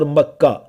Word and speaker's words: مکہ: جو مکہ میں ہے۔ یہ بکہ اور مکہ ایک ہی لفظ کے دو تلفظ ہیں، پروننسیشنز ہیں۔ مبارکوں و ہدی للعالمین،